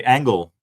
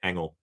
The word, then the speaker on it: ENGL: the youtubes they say angle and that's just why i decided to say it like that because in holland i also say engel angle that's how we